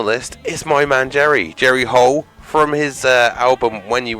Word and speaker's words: Hull: So yeah, Jerry Hole, and it's spelled like the hull of a boat.